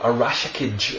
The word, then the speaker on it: Arashikage: Joe Arashikage, I think is the correct pronunciation of the Ninja Clan which Storm Shadow comes from, and this is what we've got here.